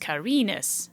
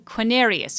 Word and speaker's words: Carinus: I thought it was Carinus, pronounced Carinus. However, you keep saying Quinarius or Quinarius on the video multiple times.